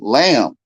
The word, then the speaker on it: lamb: you put a detail the B is silent Lang lamb and the gangster which